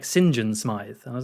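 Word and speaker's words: St John Smith: was like oh okay so it's spelled like Saint John Smith but he says it like Sinjin Smith and I was like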